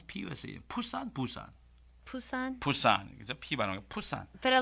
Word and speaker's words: Busan: I've returned to Pusan harbor how do you pronounce POC push that Busan Busan Busan Busan but a lot of people